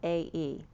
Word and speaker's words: Philae: It's Philae, or Aglilica.